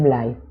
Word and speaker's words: Blay: blay algo ya decir bligh porque una seña una señora me dijo que no se dice en ley que se dice bligh que ella estuvo buscando